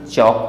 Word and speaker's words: chalk: Next word दिया हुआ है CHALK, इसे हम चाल्क नहीं चौक पढ़ते हैं, और चौक मीन्स होता है निशान लगाना, तो निशान लगाना यानी मार्क करना, तो यहाँ भी ए के बाद एल आ रहा है, इस कारण से यह साइलेंट हो जाता है, तो इसे हम चौक पढ़ेंगे, चौक का मतलब निशान लगाना होगा।